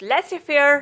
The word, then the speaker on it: laissez-faire: Finally, letter Z will be silent in these words. Laissez-faire, rendezvous. Thank you so much for watching this video.